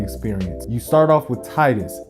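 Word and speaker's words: Tidus: you start off with titus yes Titus it's not tedious people say teenis I say Titus depending on where you're going from titãs is how it's supposed to be pronounced the whole game wraps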